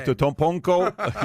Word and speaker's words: Antetokounmpo: Antetokounmpo, you know, he sends me.